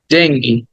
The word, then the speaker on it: dengue: আমরা এটাকে অনেক ভুল বলি এটা বাংলায় শব্দটা ডেঙ্গু কিন্তু ইংরেজিতে বললে বলতে হবে ডেঙ্গি ডেঙ্গি ডেঙ্গি হ্যাঁ ডেঙ্গু বাংলায় বলা যাবে কিন্তু ইংরেজিতে